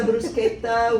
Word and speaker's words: bruschetta: This is a bruschetta with burrata and granella di pistacchio. How which do you are pronounce those, that word correctly? Bruschetta? See, the CH makes a K sound in Italian.